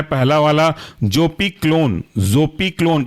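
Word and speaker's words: Zopiclone: पी इसके अंदर का एग्जांपल है पहला वाला जोपी क्लोन जोपी क्लोन की स्पेलिंग है जोपी जड ओ पी आई और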